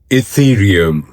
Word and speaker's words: Ethereum: इस वर्ड की सही प्रोनाउंसिएशन है इथीरियम, इथीरियम, इथीरियम, ए थीर ई अम, ए थीर ई अम, ए थीर ई अम, Ethereum, Ethereum, Ethereum.